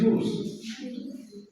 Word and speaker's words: use: When it is a verb, you have to pronounce as za sound, and when it is noun, you have to pronounce as sa.